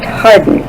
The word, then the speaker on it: Hawarden: He lived in Hawarden, England, pronounced Harden in England.